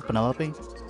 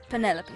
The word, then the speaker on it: Penelope: Is that short for Penelope? Officially, yes, but I never can be bothered with all four syllables of it. Penelope sounds a little ostentatious coming out of the mouth, don't you think?